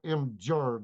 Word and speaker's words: Imgur: So you can't find it if you type in The G is Imager. pronounced J. Imgur. Jur.